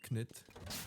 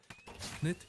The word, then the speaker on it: Knytt: Well, I've been educated a bit, so it would be Knytt and Uni. Knytt, Uni, and Niflas. Okay. I mean, if you're gonna, if you want to be like all official about it, say Knytt, then you can't say uni because that's not right.